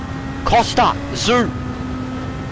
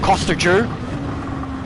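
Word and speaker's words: Tszyu: It is pronounced Jew. Zoo! Costa! Zoo! It's not Costa Jew.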